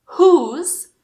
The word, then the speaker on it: who: E essas palavras são who, whom, whose e whole. Mas não exagera, não é who, tipo, não. É leve. Who.